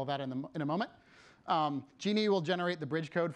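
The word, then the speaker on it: Djinni: It's pronounced genie.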